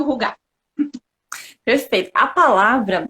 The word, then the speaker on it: hygge: né, o nosso título, a gente está pronunciando da forma correta, que é rugar. Tá? Então, rugar. Então, o Rige virou rugar, né? Na verdade, ele é rugar.